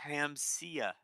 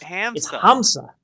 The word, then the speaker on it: Hamza: How do you see Hamsia? It's It's Hamza. Hamza.